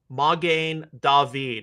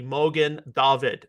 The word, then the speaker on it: Magen David: And that concerns the Star of David, the Magen David, or the Mogen David, depending on how you pronounce it.